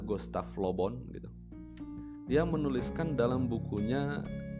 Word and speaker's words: Gustave Le Bon: yang bernama Gustav lobont tulisannya gustave Le bon lebih bacanya Gustav lobont hidup dia menuliskan dalam